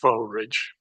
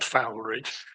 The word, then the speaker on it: Foulridge: Can I just point out, as a Foulrigger, it's pronounced Foulridge, not Fowleridge.